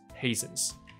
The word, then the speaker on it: hasten: 就是打开，所以随着夜晚打开，所以我一直很喜欢 unfold 这个字，就是一个故事现在展开了，那个展开你就可以用 unfold 这个字来说，很不错。所以随着这个夜晚开始展开，the flurry's pace hastens， flurry 这个字。就是飘雪，OK，小雪在那飘，就是 flurry 这样子，雪花飘着，所以 flurry 的速度加快了，hastens 这个字就是变快，OK，hasten T 不发音，clumping together，而这些雪花你知道，如果气温没有那么低的话，雪花是很容易融掉的，其实，那雪花融掉就会粘结成一块一块，所以 clumping together sure，然后就把这个窗户啊，仿佛加了一层漆一样，因为白色就粘在上面了。所以他用了 coat 这个动名词或形容词来说啦，非常的美。So clumping together, coating the window。好，一样在描述景。